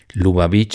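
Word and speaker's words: Lubavitch: Luba beach es así como suena pura ve grande y al final pues beach, ¿no?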